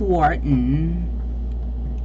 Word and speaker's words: Wharton: Wharton pa ang pronunciation. It's Wharton. It's Wharton.